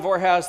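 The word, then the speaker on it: Vorhaus: My name's John Vorhouse. That rhymes with, well, never mind.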